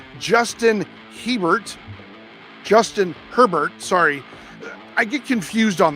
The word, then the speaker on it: Herbert: Right, number 8, Justin Herbert.